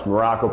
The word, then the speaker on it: Marrocco: I am coach Marrocco pronounced just like the country spelled well you know absolutely nothing like it today I got an